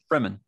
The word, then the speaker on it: Fremen: I've never heard these pronounced, but is it Freeman or Fremen? Fremen. Fremen, okay. Oh, I've been pronouncing it wrong in my head.